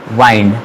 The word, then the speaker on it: wind: WIND, इसे विंड pronounce किया जाता है। और जाहिर सी बात है, विंड का मतलब होता है हवा, लेकिन एक और है WIND जिसे हम लोग बोलते हैं वाइंड, और इसका मीनिंग चेंज हो जाता है।